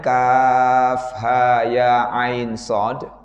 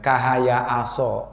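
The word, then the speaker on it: كهيعص: Kaf ha ya ain shad. Nah, seringkali bacaan-bacaan seperti ini anak-anak kita yang belajar misalnya ya Iqra misalnya kadang-kadang itu ini dibacanya malah hidup ya. Kahaya aso. Nah, ini salah ya.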